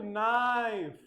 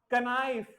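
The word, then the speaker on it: knife: pronounce करते हो तो डोंट से कनाइल फिर आपको क्या बोलना है नाइफ के इसमें क्या है बेटा साइलेंट है के ये क्या होता है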